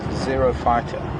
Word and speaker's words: xerophyte: Zero fighter. A xerophyte is a ground dwelling plant. Spelled with an X, not a Z or a Z.